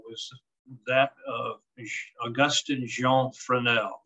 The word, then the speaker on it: Fresnel: that of augustine jean fresnel this is f-r-e-s-n-e-l pronounced f-r-e-n-e-l for now he thought